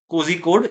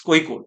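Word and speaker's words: Kozhikode: So it's not cozy code, it's koi code, right?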